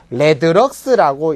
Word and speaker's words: rlx: 그럼 조도의 단위와 광속 발산도를 구분하기 위해서 조도의 단위인 럭스라는 놈 앞에다가 R자를 붙여서 우리가 RLX라고 해서 레드럭스라고 읽는 요게 바로 광속 발산도입니다.